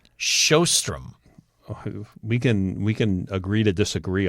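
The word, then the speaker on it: Sjöström: No, I think the J takes on an H sound. Sjostrom.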